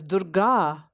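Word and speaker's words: Durgā: So it's very important as we are pronouncing her name that we make the ending ah sound long, and we also make the first vowel du as short, because it embodies within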